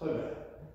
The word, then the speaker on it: roda: Okay, R's are pronounced like H's in Portuguese, right? So it looks like a roda, but it's roda, or roda.